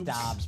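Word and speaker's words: Doubs: I know it's Dobs, but Dubes. How is it pronounced? Doss. Doss. Yes. soon to be pronounced uh Pittsburgh Steeler wide receiver Romeo Dobs.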